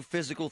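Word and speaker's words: Fyzical: You want a new physical therapy experience? You want a treatment plan centered on you? Monroeville Physical, spelled F Y Z I C A L, is spelled different, you know, cuz they are different.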